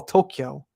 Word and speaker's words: Tokyo: something you know yeah see people hear toca tokyo there's a k sound i don't say i don't say the a at all tokyo so if you're here